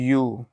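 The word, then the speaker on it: ewe: यही मैं आपको समझाना चाह रहा हूँ, क्योंकि इसका प्रोनाउंसिएशन अगर आप करेंगे तो इसका प्रोनाउंसिएशन होता है यू।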